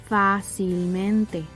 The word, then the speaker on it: fácilmente: And lastly, if it falls on the fourth to last syllable, the sobresdrújula column, the word will always take tilde in that syllable as well. Fácilmente, fácilmente. Unfortunately, there are a few exceptions.